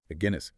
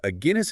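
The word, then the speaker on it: Aguinis: Herman nenes right agre like the beer a Guinness okay got it so a Guinness and his co-authors lay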